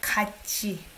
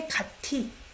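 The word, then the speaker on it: 같이: it as kudi oh this is tricky because it's not something that we will say the way it's written okay it's like kachi i don't say kati do you say that no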